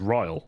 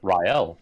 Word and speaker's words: Rielle: for gizla and then you pronounce riel as ryle so rael yeah yeah but i